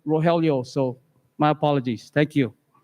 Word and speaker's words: Rogelio: i saw your name i pronounced your name rajeel it's rogelio so my apologies thank